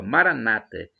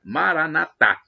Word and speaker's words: Maranata: dialeto de Jesus que os evangélicos e Protestantes dizem com a tônica na penúltima sílaba Maranata e os católicos dizem com a tônica na última sílaba Maranata não importa né Não